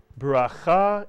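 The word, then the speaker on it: ברכה: Put the word together. Bracha is correct, and bracha means a blessing.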